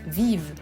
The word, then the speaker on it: vive: It's close to, but when you pronounce it, it's actually very different, Biba, and in French it's vive. The V is pronounced differently.